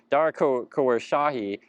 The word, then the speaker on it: Khosrowshahi: Dara Khosrowshahi.